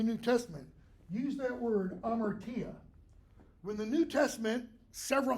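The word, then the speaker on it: hamartia: t a that's pronounced am Martia the H is silent okay this is the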